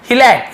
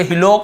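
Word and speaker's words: hillock: Small एक छोटे से, हिलैक, इसे हिलोक ऐसे नहीं पढ़ी, हिलैक इस टाइप से पढ़ते हैं, सही उच्चारण इसका यही है।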